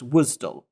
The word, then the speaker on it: WSDL: about first is WSDL which is normally pronounced wisdom it stands for web